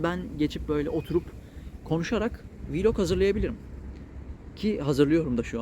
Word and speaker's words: vlog: montajlama hiç bilmiyorum ya bu blokta galiba vlog diye okunuyor ben biraz daha telaffuzlara